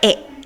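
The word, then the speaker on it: へ: ya di sini ya kita akan pakai partikel e ya atau untuk tulisannya memang haid tapi cara bacanya e ya teman-teman kemudian diikuti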